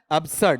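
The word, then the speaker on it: absurd: शुद्ध उच्चारण एब्जर्ट नहीं होता। क्या होता है? एब्सर्ट ज की बजाय से साउंड वहां पर आता है।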